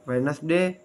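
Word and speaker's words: Wednesday: नहीं देता जैसे muscle silent D डी इज not pronounce in the following common words अमूमन इस्तेमाल होने वाले दरल अल्फाज में डी आवाज नहीं देता जैसे hanker chief वेडनेसडे silent E ई इज नॉट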